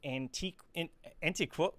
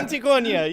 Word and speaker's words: Antiquonia: Today we have with us Rubén, the creator of Intruder in Antiquo. I didn't even think about the name. I was supposed to find out how to say it. Antiquonia, yeah. Antiquonia.